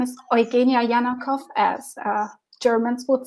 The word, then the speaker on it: Janakow: Eugenia Jeanette house yeah my name is Jana Jana cough as Germans would say but you can pronounce it usually in oh hey Nia however